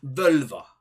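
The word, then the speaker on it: völva: prophet without knowing it a vulva if you will as we'd say it in Old Norse transitioning between Icelandic and gets tricky at times so Vova to pronounce it properly you see they're playing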